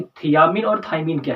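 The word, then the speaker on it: thymine: इसमें ध्यान दे लेते हैं एक बात का थायमीन जो वर्ड है टी एच वाई एम आई एनई स्पेलिंग प ध्यान दीजिएगा जो थायमीन होता है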